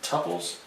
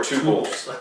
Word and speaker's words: tuple: either pronounced tuples Or tuples. Yes, yes. One of the great debates of computer science is that particular question. Who's right? Are they tuples or tuples? I pronounce them as tuples, Okay. which means by definition it's tuples.